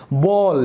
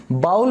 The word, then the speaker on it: bowl: दोस्तों इसकी pronunciation BOWL की बाउल बिल्कुल भी नहीं होती है। इसको इंग्लिश में सही प्रोनाउंस करें तो ये होगा बोल। तो जैसे हम कहते हैं ना, हाँ भाई क्या बोलना चाहता है, तो वही बोल जो है इसकी करेक्ट प्रोनाउंसिएशन है।